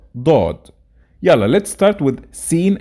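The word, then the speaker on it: ضاد: And let's quickly know how to pronounce each of them. Seen, sheen, and the next pair, sod, dod.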